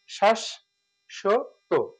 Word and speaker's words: শাশ্বত: এখানে যেটা আসবে শাশ্বত, শ্বাস, শ্বাস, শাশ্বত, শ্বাস, শাশ্বত বা শাশ্বত, আমরা এভাবে লিখতে পারি শাশ্বত, কারণ যুক্ত যদি থাকে কোনো সে তাহলে যদি দুটো হয় তাহলে পরেরটা ওকার হয় শাশ্বত। সঠিক উচ্চারণটা হবে কি শাশ্বত।